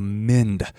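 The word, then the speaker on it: meend: what i looked up it's called a mind i hope i'm pronouncing that right m-e-e-n-d i believe incredible stylistic technique and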